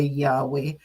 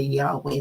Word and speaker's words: Yahweh: So it's just YHWH. So in order to pronounce it in English or in other languages, that's why they added the syllables. Vowels. What am I saying? The vowels, not syllables. The vowels A and E. So we say Yahweh.